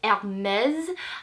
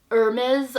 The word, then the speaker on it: Hermès: français, et donc voilà, c'est Hermès, pas Hermès or Hermes or Hermes. I mean, I think you can say it however you want to and however feels comfortable to you, but I will continue in the video saying Hermès because it is a French brand, and voilà, that's how you say it in French.